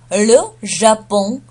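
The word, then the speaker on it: le Japon: Ле Жапон, Ле Жапон. Как бы он произносится через нос.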